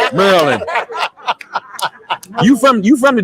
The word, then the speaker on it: Maryland: on brother listen uh university of merlin uh is what i represent and you know he from because that's how you pronounce it maryland you from you from